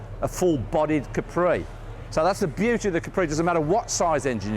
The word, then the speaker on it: Capri: What's that? Capri? Capri. Well, that was the way we were all meant to pronounce it, but of course, it never turned out that way.